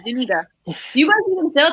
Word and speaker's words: Zuniga: Do you guys feel like that okay, so besides Jabari Zuniga, that's how you say it, Zuniga.